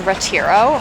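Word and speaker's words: Retiro: But what we're doing now is we're actually going to the famous park here called I think it's pronounced Ratiro.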